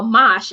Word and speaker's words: mash: it's mash mash but the way we pronounce it with the west indian dialect it is oh who said thank you for tuning in oh okay the west indian dialect it is oh mosh mos h that's how